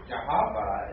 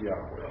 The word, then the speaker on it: Yahweh: If it had its proper vowel points, most scholars assume that it would be pronounced Yahweh.